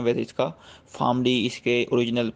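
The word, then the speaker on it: PharmD: Career counselling जो series चल रही है उसमें फार्मडी के हवाले से हमने डिस्कस करना है डॉक्टर फार्मेसी या डी फार्मेसी या फार्मडी। डिफरेंट तरह के वर्ड्स जो है लोग यूज़ करते हैं, वैसे इसका फार्मडी इसके ओरिजिनल प्रोनाउंसिएशन है।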